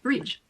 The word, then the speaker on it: bridge: D is silent before the letter G. Badge. It's not badge. It's just badge. DG is like the J in jam. Bridge. Budget. Edge.